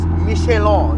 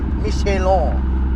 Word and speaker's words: Michelin: It has Michelin. Remember, guys. Remember how to say it. Michelin, not Michelin. Michelin.